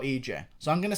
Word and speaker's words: Ige: like to say Ania I'm gonna keep saying IG even though that's not how you pronounce his name because I have to manually think about EJ so I'm gonna say